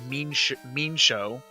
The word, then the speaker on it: Mine Shao: Oh, fun fact too with Mine Shao, I just found out today the name is actually pronounced Mean Show.